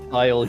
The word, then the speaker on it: Kyle: Called him Kale cuz Dino Darentes couldn't pronounce Kyle. That's Kyle. Yeah. Kale. Kale.